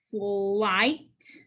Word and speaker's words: slight: trigraph IGH. The I makes the long sound. G and H are silent. Slight, slight.